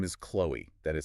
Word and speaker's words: Chloe: Her name is Chloe. That is spelled C-H-L-O-E.